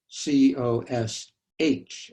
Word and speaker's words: cosh: the hyperbolic cosine is which is written as c o s h and it's pronounced cosh this is e to the x